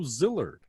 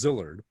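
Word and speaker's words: Szilard: for me is leo zillard not everybody knows zillard it's s-z-i-l-a-r-d uh he said zillard but a lot of americans say zillard uh zillard with no zed or z sound in a zillard and leo not leo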